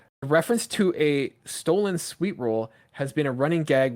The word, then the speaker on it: Sweetroll: It's spelled Sweetroll, but there's no space. So I don't know if they're saying sweet troll Oh or yeah, it's sweet roll.